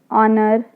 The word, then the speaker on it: honor: Honor, again H is silent.